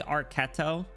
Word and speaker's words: Archetto: Also, I found out her her name pronunciation is technically Archetto. And I'm going to do my best to to to start calling her Archetto.